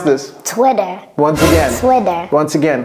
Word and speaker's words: Twitter: Do Americans pronounce it like that? I don't think so. Cody, can you help us pronounce this? Twitter.